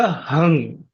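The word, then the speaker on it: हुं: No, it would be 'hum'. This would be 'hung'. Hung. Just a slight touch of 'g'. A gentle touch of the 'g' nasal sound.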